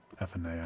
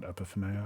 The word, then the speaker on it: Ephinea: Ephinea, not Epiphania. I added another syllable.